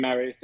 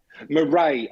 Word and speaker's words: Murray: lovely what is it it's murray i keep calling the marriage apologies murray i will remember that for future now